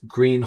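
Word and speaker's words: Gruene: And then in '06, we opened up Green Harley-Davidson in New Braunfels, Texas, and it's named after the oldest dance hall in Texas, Green Hall. It's spelled Grune.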